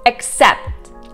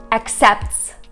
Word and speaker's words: accept: Accept. Accepts. Accept. You don't really enunciate on the T. It is there. You just don't have to pronounce it.